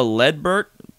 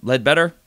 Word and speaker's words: Ledbetter: and the six they got defensive end Jeremiah led Burt or better read better Ledbetter it's a weird last name they also got